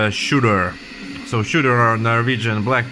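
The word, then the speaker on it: Tsjuder: open this is that some people would pronounce it see you there but it's actually pronounced as shooter so shooter are Norwegian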